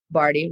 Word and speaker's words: Bardhi: Um, so Barty, P A M A, last name Barty, rhymes with party, but not spelled that way.